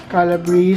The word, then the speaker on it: Calabrese: How do you pronounce this, honey? This is Calabrese. Calabrese.